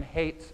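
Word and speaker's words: Haidt: I started exploring bees because I read Jonathan Hate's article hate is spelled h AI G HT I think he's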